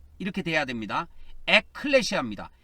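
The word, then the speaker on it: ἐκκλησία: 클레시아, 에크클레시아, 액이라고 해야 됩니다. 액, 이렇게 돼야 됩니다. 에클레시아입니다. 이 액은 에크를 줄여서 발음한 겁니다.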